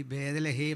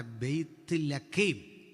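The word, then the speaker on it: ബേത്‌ലഹേം: നമ്മൾ ഈ ബേദലഹേം എന്നൊക്കെ പറയും, വാസ്തവത്തിൽ ഉച്ചാരണം തെറ്റ ബെയ്ത്ത് ലഖേം ഇതാണ് പറയണ്ടേ. അവനത് വഴങ്ങാത്തതുകൊണ്ട് അവൻ എഴുതി വെച്ചു ബേദലഹേം. നമ്മൾ പറഞ്ഞത് എങ്ങനെ? ബേദലഹേം.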